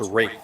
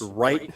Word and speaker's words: Wright: And in the emerging Civil War book series, they put in parenthesis that his name was pronounced right.